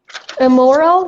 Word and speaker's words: immoral: I-M-M-O-R-A-L immoral یا immoral دو تا تلفظ داره توی انگلیسی آمریکایی.